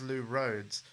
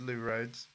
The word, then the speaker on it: Lou Rhodes: Like, if you've ever heard of the electronic duo called Lamb, the lead singer of Lamb, her name is Lou Rhodes.